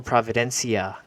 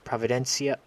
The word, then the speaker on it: Providencia: And then Kingston, and of course, Isle Providencia. I didn't pronounce that correctly. Providencia.